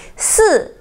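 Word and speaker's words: 四: Si in Chinese is number four, which is fourth tone.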